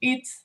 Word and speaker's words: eat: Hit, and then eat a bit longer, and no H, surtout.